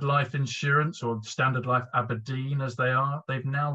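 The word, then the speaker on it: abrdn: And it's been Aberdeen. That's the way that it's now said, apparently, phonetically, because they want to connect with a more millennial generation.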